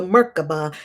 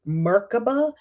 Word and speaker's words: Merkabah: Enoch raised upon the wings of the Shekinah or Shekinah to the place of the throne, the Merkabah, and the angelic hosts.